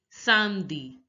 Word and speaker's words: samedi: Saturday is pronounced as samedi. Samedi. Notice that the A sound in French, the A sound is A sound.